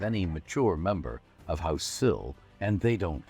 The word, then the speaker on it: Cyl: This time together, I'd like to tell you about a wealthy family of Neverwinter, House Cyl, spelled C-Y-L and pronounced Cyl as in windowsill.